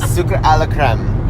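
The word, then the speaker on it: Sucre à la crème: years I'm always afraid I'm gonna say your name wrong because it's French and say it again no pressure Oh Zuka a la creme yeah that's pretty good again so good this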